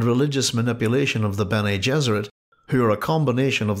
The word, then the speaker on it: Gesserit: It is no accident that the pronunciations of Gesserit and Jesuit are similar, as he envisaged his maternal aunts and the Bene Gesserit of Dune as female Jesuits.